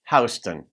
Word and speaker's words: Houston: Houston, that's how most people say it. In New York City, for some reason, they say it Houston.